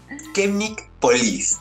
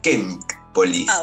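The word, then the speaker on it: Chemik Police: Es Chemnik Polis, ahí está, porque yo decía Chemnik. Yo también decía Chemnik. Sí, no, pero en polaco es Chemnik Polis.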